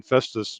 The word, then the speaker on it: Festus: with her family infestus is that the right pronunciation festus missouri she is in jefferson county okay in